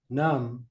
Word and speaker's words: numb: the be is silent numb the be is silent how many get that